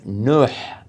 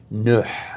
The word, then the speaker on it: Nuh: And Nuh is how it's pronounced in Arabic. Nuh, with a ha sound at the end.